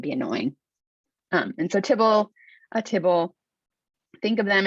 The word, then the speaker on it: tibble: class that shows up tbl and so they pronounce that tibble that's really the same